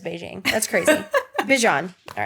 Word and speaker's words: Bijan: Not pronounced Beijing. There's a TikTok of somebody asked him, they were like, what's the craziest way someone's ever pronounced your name? And he said Beijing, and I just can't imagine.